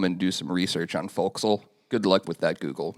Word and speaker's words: Forecastle: So, actually, it's pronounced Forecastle.